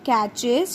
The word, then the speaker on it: catches: Catches. Here children, T is silent. T does not speak. So this word becomes catches.